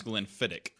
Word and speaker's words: Glenfiddich: which sorry guys the Glen Thomas says pronounce Glenfiddich but it's America you pronounce her CH like